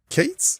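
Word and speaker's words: K8s: introduce kubernetes so kubernetes or also known as Kates so the letter K followed by the number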